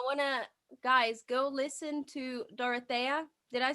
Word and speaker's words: Dorothea: Don't I wanna, guys, go listen to Dorothea. Did I say it right? Yes, Dorothea.